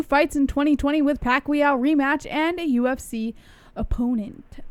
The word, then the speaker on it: Pacquiao: Floyd Mayweather wants 2 fights in 2020 with Pacquiao rematch and a UFC opponent. Boxing superstar Floyd Mayweather Jr. is reportedly planning to fight twice in 2020 with a rematch against Manny Pacquiao and another crossover bout against...